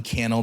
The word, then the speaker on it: Cannell: in time and give Cannell that rhymes with YouTube channel some wisdom some advice